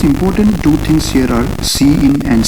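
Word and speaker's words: cin: see what they are number one we have c i n which is pronounced as c in so we call this as c in and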